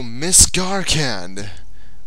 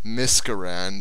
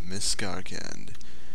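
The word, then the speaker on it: Miscarcand: So we are going to Miskarkand, or as I call it, or called it when I was first here, Miskarand or something. I pronounced it very badly, but Martin has corrected me, and here we are.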